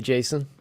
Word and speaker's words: JSON: then you can argue if it's pronounced Jason or Jason, Yeah. which Douglas Crockford, the gentleman that coined that term, says Jason. Jason. It's Jason, like a person.